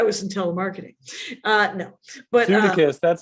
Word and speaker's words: Sudeikis: But Jason Sudeikis and Sudeikis, is that how you pronounce it? That can't be Sudeikis? right. Yeah, it's going to be Sudeikis. That's not going to be Sudeikis. I'm going to call it Sudeikis.